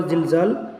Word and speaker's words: زلزلت: জুল জিলা যা উচ্চারণ করবেন জিহ্বার আগাকে নিচের সামনের দুই দাঁতের গুড়ার সঙ্গে লাগিয়ে জাল, আর জাল হবে জিহ্বার আগাকে উপরে দুই দাঁতের আগার সঙ্গে লাগিয়ে।